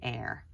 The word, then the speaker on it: heir: said no definitely not we usually pronounce the H sound in all of the words that we read so that would be an unexpected spelling pattern that for some reason